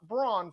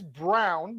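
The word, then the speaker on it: Braun: denver nuggets christian brown it is not brawn for all of you guys that don't want to understand that sometimes words are pronounced differently than they're spelled but it is brown not brawn with the 21st overall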